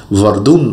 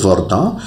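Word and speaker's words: Verdun: এটা একটা জায়গা কিন্তু অনেক সময় ভুলবশত বাংলা উচ্চারণ করতে গিয়ে অনেকে এটাকে ভর্দুন উচ্চারণ করেন সেটা কিন্তু সঠিক নয় উচ্চারণটা হবে বর্দা অর্থাৎ বর্দার নিকোলাস অর্থাৎ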